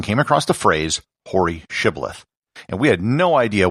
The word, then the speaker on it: shibboleth: said all right say shibboleth if he said sybileth because he could not pronounce the word correctly they seized him and